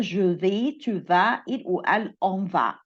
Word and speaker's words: vas: طريقة النطق je vais, tu vas, il ou elle on va.